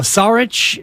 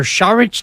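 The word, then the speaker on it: Šarić: some names still available Dario sarich or charich depending on your pronunciation and where you're from uh Malik Beasley Mason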